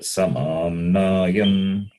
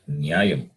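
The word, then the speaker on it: समाम्नायम्: Yenakshara Samamnayam. Yenakshara Samamnayam. Samam Nayam, not Nyayam.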